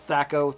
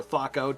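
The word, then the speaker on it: THAC0: But here instead you have this Thaco, or Thaco, depending on how you want to pronounce it.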